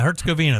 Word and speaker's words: Herzegovina: Is that how you pronounce that? Sure. Is that right? Am I close? Herzegovina. Yeah, Herzegovina.